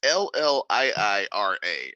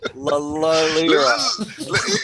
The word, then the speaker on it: Lliira: You have to pronounce both L's. It's Lyra. Lyra.